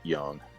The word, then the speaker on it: Jung: jungian analyst from from carl jung or carl young however you want to pronounce it i've heard it pronounced many different ways demian how do you pronounce it i i would think that uh that he would have pronounced it young young yeah so she's she's